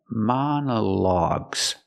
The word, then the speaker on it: monologue: call and wall log so again monologues the first o is the short a sound like hot and stop ma Mana the second vowel is a short uh sound like cup and up mana mana man logs and the last o is the a sound like dog and call a logs together monologues each o has a different pronunciation example you can listen